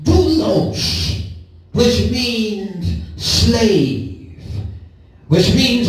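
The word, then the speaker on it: δοῦλος: In the Greek, bondservant is pronounced doulos, which means slave, which means one who is in a permanent relationship of servitude to another.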